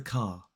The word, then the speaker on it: car: Number 1, I've parked the car. Notice that we don't pronounce the R in parked or in car in this sentence, and also the has that schwa in it, so it's the.